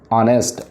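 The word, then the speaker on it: honest: जैसे ऑनेस्ट, अब देखिए वैसे अंग्रेजी का एच क्या है? कॉन्सोनेंट है, लेकिन जब हम इसका उच्चारण करेंगे तो कैसे लिखेंगे हम इसको?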